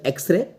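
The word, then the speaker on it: X-ray: करेंगे आ रहा है एक्स एक्चुअल में कंसोनेंट है लेकिन यह साउंड आपको वाउल दे रहा है एक्स ए स्टार्ट एक्स एक की आवाज आ रही है इसलिए आर्टिकल एन लगेगा क्वेश्चन नंबर 10 शी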